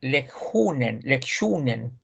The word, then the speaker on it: lektionen: Jag måste ringa hem innan lektionen. Shh. Como la sh.